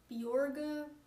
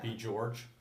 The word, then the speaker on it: Bjorge: like Norwegian is it it's supposed to be pronounced um borga but it's too hard for me getting Americans to say beor I'm thinking B George oh yeah that I've